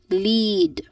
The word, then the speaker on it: lead: So here in lead this is I mean this has a long vow e vowel sound. So it is uh pronounced as lead. Again lead this is one clear syllable. Okay. And this particular syllable is stressed or it is emphasized.